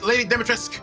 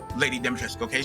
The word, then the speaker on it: Lady Dimitrescu: I THOUGHT IT WAS GOING TO BE LADY DIMITRESCU. YOU KNOW, YOU KNOW WHAT HER NAME IS, LADY DIMITRESCU. THAT IS HOW IT IS PRONOUNCED, SO EVERYBODY SAY IT. LADY DIMITRESCU.